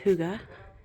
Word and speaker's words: hygge: if you're not familiar with Huga Homestead um Huga it's h y g g and it is pronounced Huga it's a European comp concept of calm peaceful